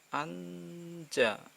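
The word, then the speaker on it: 앉아: NG ini kan kalau mati kan jadinya N ya, tapi ini berhubung ketemu vokal berarti bacanya anja, anja, anja. Jadi N nya tetap mati, J nya gabung ke vokal, anja.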